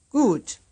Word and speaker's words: Gut: So remember, we have to round our lips with that oo.